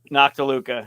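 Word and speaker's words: Noctiluca: I don't talk about nocta Luca I'm not doing the right thing so that's how you pronounce it nakaluca yeah they're little bioluminescent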